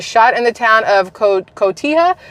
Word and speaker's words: Cotija: Yolanda Sanchez was shot in the town of Cotija, because the J is not like pronounced.